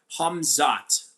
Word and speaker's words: Khamzat: Uh MMA Dwey says, "By the way, Kamzat's name is pronounced uh Hamzot." Okay, Hamzot, right? Kind of like Hamza, but obviously Hamzot is the uh Slavic Russian pronunciation of Hamza, right?